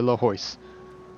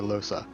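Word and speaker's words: Lohse: Once again, I do not like that pronunciation, so I will call her Lahois. This is an incorrect pronunciation, and I am aware of that. But I like saying Lahois over Losa.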